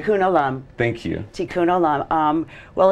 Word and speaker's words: Tikun Olam: I say it correctly tun Alam thank you tun Alam um well it's a miracle yeah it really